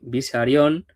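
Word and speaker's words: Besarion: Continuamos con otra figura de Bisarion. Ya pronuncio, pronuncio bien siempre bisarón porque es el nombre del padre de Stalin y por no saber decir Bisarrión, Pau me castigó en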